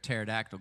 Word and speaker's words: pterodactyl: Why can't you hear a pterodactyl go to the bathroom? Why? Because the P is silent.